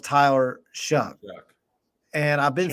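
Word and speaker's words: Tyler Shough: his name is pronounced Tyler shuck and I've been saying sha and and I guess that's wrong but it literally looks like Sha but shuck Tyler shuck out of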